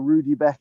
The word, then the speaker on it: Rudbeckia: one simon eighth firm rudbeckia or rudy becky yes people pronounce it slightly differently i've always called it